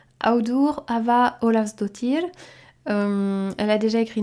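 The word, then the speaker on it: Auður Ava Ólafsdóttir: romancière islandaise qui s'appelle alors attention pour la prononciation audour Ava Olav dotir euh elle a déjà écrit neuf livres il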